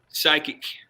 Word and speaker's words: psychic: anybody knows it i'm thinking the p is silent or something well you got it right blane got it the p is silent psychic silence yeah you guys